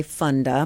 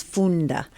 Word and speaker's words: Funda: wrong well you know it looks like fun so people want to say Funda but the actual pronunciation is Funda Funda Funda which is